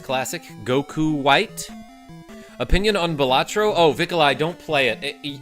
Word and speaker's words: Balatro: Opinion on Balatro?